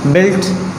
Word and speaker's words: built: जैसे कि हम दूसरा एक एग्जांपल लिखते हैं BUILT, बिल्ट।